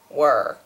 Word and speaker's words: were: This one is pronounced where, as if it were spelled W-A-R-E, and this one is pronounced were, as if it were spelled were.